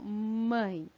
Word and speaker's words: mãe: Então, entre as palavras mãe, barulhão e ladrão, vocês percebem quando vocês pronunciam essas palavras que elas também têm um som nasal?